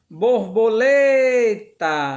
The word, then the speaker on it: borboleta: Ela tá sublinhada, destacada de verde, porque ela é a sílaba tônica.